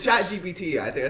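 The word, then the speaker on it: ChatGPT: Chat GTP. GTP. My one of my instructors for nanoelectronics, he called it Chat GPS. Wait, it's Chat GPT.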